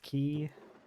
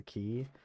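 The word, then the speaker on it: qi: They use key, which is spelled with a Q. I'm pretty sure it's still pronounced key.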